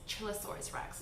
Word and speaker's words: Chillasaurus Rex: a chillasaurus chillosaurus rex chillasaurus rex is how you say it chillasaurus chillosaurus rex rex